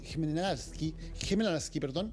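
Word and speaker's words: Хмельницький: Las otras 2 plantas están ubicadas cerca de donde estamos nosotros, en Rivne y en Khmelnytskyi, esa es la pronunciación correcta, en el oeste del país.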